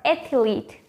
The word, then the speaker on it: athlete: very carefully athlete or athlete the correct one is actually just with two syllables athlete not ethyleat no